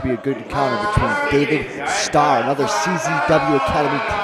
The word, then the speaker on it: David Starr: the Fandango chance timely you're saying it wrong it's David star oh get it that